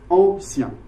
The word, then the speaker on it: ancien: But then if you read it like French is spoken, like modernist poetry is supposed to be, you're going to read it like we speak, ancien, two syllables.